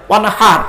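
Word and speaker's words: وانحر: এই গলার ভেতর থেকে হেটা উচ্চারণ করবেন, ওয়ানহার, হাই হুটি, হাই হাওয়াজ নয় মাপেরা।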